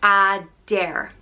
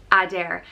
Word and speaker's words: Adair: forward of the oak it's pronounced a dare adair and is spelled a-d-a-r-e